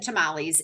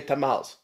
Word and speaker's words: tamales: what I still hear I hear the E being pronounced I you know it's